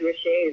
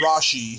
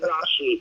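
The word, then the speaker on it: Rasche: David Rashet is a dog. Yeah, it's actually pronounced Rashi. Pronounced Rashi. Am I doing it wrong? Okay, thank you. David Rashi.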